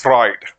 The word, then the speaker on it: Freud: out okay then uh according to Sigmund Freud you need to pronounce just fried according to Sigmund fraud uh there was one